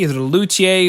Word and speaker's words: luthier: Is it a luthier? Is it a luthier? Is it a luthier? Most people say luthier.